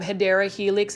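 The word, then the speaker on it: Hedera helix: favorite this is a HRA helix or the correct way to say it is um hadera Helix English ivy for those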